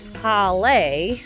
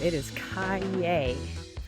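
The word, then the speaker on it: calle: It is cay. Like yippy cay.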